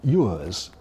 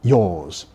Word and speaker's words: yours: Most foreign learners of English pronounce it yours. But in our poll, only 25% of British people preferred that pronunciation. 3/4, on the contrary, went for yours, rhyming with pause when we stop.